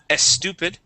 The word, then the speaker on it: stupid: stupid you had said stupid putting a sound right before that e okay we want to only pronounce that s saying stupid stupid okay stupid stupid